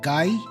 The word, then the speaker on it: Guy: It's like Guy from Final Fight. Yeah, indeed, it is. It's Guy from Final Fight. Okay, we'll use that pronunciation then.